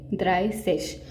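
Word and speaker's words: dreißig: und Zwanzig, 29 neun und Zwanzig, एंड 30 द्राइसिश।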